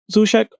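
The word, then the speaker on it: Souček: I'm going to say Sushek. I'm saying it right. Sushek.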